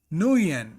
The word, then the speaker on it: Nguyen: Nguyen is the pronunciation.